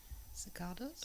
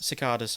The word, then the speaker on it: cicada: You can hear um cicadas outside creaking away. Cicardas. Cicadas. I don't know how that's pronounced.